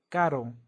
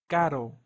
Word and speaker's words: caro: Caro means expensive and notice how dealer R doesn't sound like the English R is not Peru or Carol is pero pero or Caro Caro so it's more similar to the one in the ladder if it's really close but not the same so next we